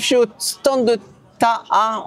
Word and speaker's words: TĀ: Les sportifs, je suis au stand de Taha. On prononce Taha? Ta. Classique. On prononce Ta, facile.